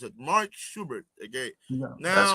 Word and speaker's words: Mark Schubert: Okay, how do you pronounce it? Mark Schubert.